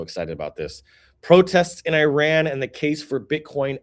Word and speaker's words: Iran: fam in the in Iran. I should say Iran. I'm I apologize. That was that was terrible. That was so American. Iran. That is that is the proper way to say it.